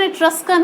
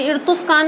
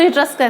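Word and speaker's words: Etruscan: ध्यान रखना, ये इसका प्रोनाउंसिएशन इट्रस्कन है, ये इर्तुस्कान नहीं है, ऐसा उल्टा सुल्टा मत बोलना, ठीक है। सो इट्रस्कन है।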